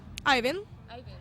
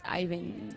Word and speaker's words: Eivind: I just don't pronounce the D. Ivan. Ivan. It's Eivind. Okay.